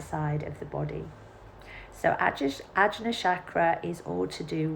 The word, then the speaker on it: Ajna: So this is Ajna chakra, or sometimes it's pronounced Agya.